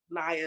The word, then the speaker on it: Naya: health everybody i'm naya naya is a preferred um way to say my name well i introduce myself